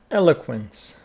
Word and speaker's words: eloquence: eloquence what is charisma eloquence stress on the first syllable eloquent eloquent eloquent eloquent